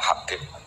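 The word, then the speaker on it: حبيب: Itu di harokatnya kitab itu ada yang nulis Hubab. Yang benar, oh enggak, yang benar itu bacanya Habib.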